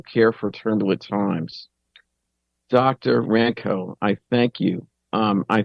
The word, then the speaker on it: Rankow: been doing with others rankow I'm sorry ranco excuse me 40 is slip because